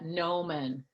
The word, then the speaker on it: gnomon: called the gnomon and it's spelled with a silent G so that's and you say that no man and that's what that's